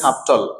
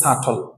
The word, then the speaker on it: subtle: Move on next one, SUBTLE, আমরা বলি সাবটল, হ্যাঁ। তো বিটা সাইলেন্ট থাকবে এখানে, সাবটল না, এটা হবে সাটল, just সাটল, সাটল, সাটল, right.